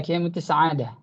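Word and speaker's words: كيمياء السعادة: Is it the right way to pronounce in Arabic? Kimya Sa'ada? كمية السعادة. Yeah, Kimya Sa'ada.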